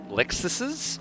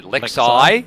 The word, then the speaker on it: Lexus: lexuses in the field actually lexuses i'm just about to say lex eye yeah that's about to say we've got to be very careful how we pronounce that this is this